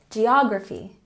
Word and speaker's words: geography: And geography has the emphasis on the second syllable. Geography, geography.